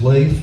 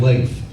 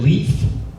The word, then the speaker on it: Leif: He said, "Hi, I'm Leif." Go, isn't it Leaf? Said, "No, no, it's actually it's pronounced Leif. Rhymes with safe.